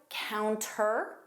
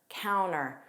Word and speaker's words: counter: The speaker didn't pronounce the T. Let's review counter or counter.